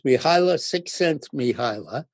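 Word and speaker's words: Mihaly Csikszentmihalyi: cent miila six miila his first name is miila so it's miila sixense miila and he wrote a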